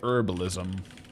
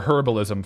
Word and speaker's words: herbalism: And let's get herbalism or herbalism for uh the H enjoyers. the H pronunciation.